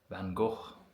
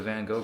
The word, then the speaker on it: Van Gogh: Van Go, I think is how you actually pronounce it.